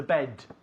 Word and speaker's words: bed: Bed es como b. Es un sonido explosivo. B. Bed. Not bed. Bed no entendemos.